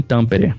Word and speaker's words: Tampere: você vive cara bom hoje eu moro em tampere é o jeito que você fala a gente se escreve é bem no centro da finlândia e